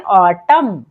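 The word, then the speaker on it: autumn: है silent for example ऑटम यहां पर जो एन है वो एम के बाद आया है तो एम हो जाएगा साइलेंट तो क्या पढ़ते हैं ऑटम कॉलम यहां पर भी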